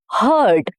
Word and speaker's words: heard: Next is heard. Heard, again E-A-R, but here the pronunciation changes. It becomes heard, H-U-R-D sound. The sound is of U-H-R. It rhymes with bird or turd.